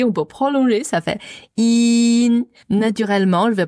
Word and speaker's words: 阴: donc d'abord la prononciation in en chinoise la transcription phonétique ça fait y i n donc y ça se prononce comme i comme deux fois i donc c'est la même